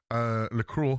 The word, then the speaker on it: Lacroix: Lacroix is how you say it, I think it's French lad.